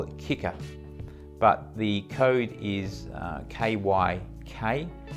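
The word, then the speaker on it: Kyckr: So yes, the Kicker, and that is how you say it, I've discovered since.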